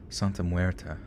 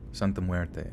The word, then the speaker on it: Santa Muerte: she knew a few things about something called santa muerta how do you say that let me look this up look this up right quick thanks lynn huerte santa muerte okay my mom was a quarter mexican too